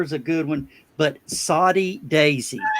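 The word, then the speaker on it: Soddy-Daisy: no greenlee lager is a good one but saudi daisy good old soddy daisy s-o-d-d-y daisy i have it they spell it up there in saudi daisy too soddy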